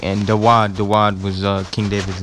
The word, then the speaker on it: Dawad: You have the word Dawada. That's the Hebrew characters, Dawada. But it's ultimately pronounced Dawad. And sometimes the transliteration helps you pronounce the word, you know, but it's spelled differently. But it's D-A-W-A-D, Dawad, which means beloved, beloved